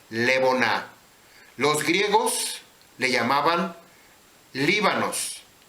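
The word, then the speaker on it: לבונה: haber luz el incienso los hebreos le llamaban leonar y escuché como Cómo está escrito vea cómo está escrito y Cómo se pronuncia levona los griegos le llamaban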